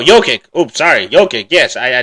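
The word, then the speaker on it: Jokić: But as well as Jamal Murray, him and Djokovic Or did I say his name wrong already? No, Jokic.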